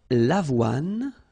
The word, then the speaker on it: avoine: L'avoine. Remember, don't insist on the final E.